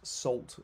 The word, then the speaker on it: NaCl: is nacl well okay nacl on its own sometimes pronounced salt or or it actually stands